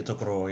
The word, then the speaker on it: Tokoroa: I don't know if I'm fucking pronouncing this right. Tokoroa? Yeah, Tokoroa, yeah.